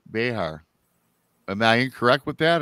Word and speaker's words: Bexar: County cpdes it's uh it's actually Bear the x is silent it's uh Bear County the way we